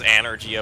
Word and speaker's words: Anergy: And yeah, it says Anergy up in the corner. That might not actually be a typo, because they pronounce it that way, and it's spelled that way pretty consistently.